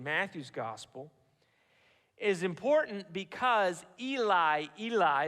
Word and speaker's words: Eli: gospel is important because Eli Eli is the way it's pronounced in Hebrew is the beginning of